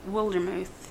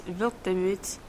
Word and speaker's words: Wildermuth: It's pronounced Wildermuth. Oh, that sounds like a cool name. In German, it's Wildemut, and it means wild courage.